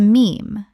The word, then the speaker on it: meme: He took the Greek word mim, meaning something imitated, and shortened it to meme to rhyme with gene.